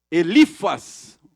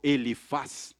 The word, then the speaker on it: Elifaz: Elifas, ou Elifaz, tem alguns que pronunciam Elifaz, amigo de Jó, estava correto quando ele disse que Deus não se beneficia de nós.